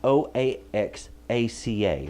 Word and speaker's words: Oaxaca: If you want a good Mexican cheese, I would recommend Oaxaca, and that's Oaxaca. That's how you spell that.